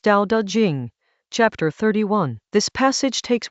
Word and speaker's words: Tao Te Ching: Tao Te Ching, pronounced Tao Te Ching.